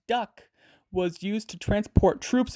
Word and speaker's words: DUKW: The first widely used amphibious truck, called the DUKW, pronounced duck, was used to transport troops in World War II.